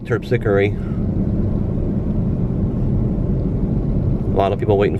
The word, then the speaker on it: Terpsichore: This is Terpsichore, but my mom used to call it Tepsico. Tepsico for short, but it looks like Terpsichore.